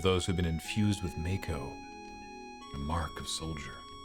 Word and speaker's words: Mako: game back in 97 me and everyone I knew said Mako we're ignoring the fact that in the remake they pronounce it Mach oh and we're calling it Mako fight me I don't